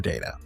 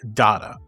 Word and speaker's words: Data: During the very first table read, Spiner thought the name was pronounced Data, but Patrick Stewart said it must be Data because of his polished British diction. However, Roddenberry announced a new rule that whichever pronunciation is mentioned on set for the first time will be the official pronunciation of Data.